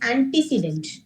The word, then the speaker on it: antecedent: very much it's not an accident it is antecedent okay very good okay fine very good so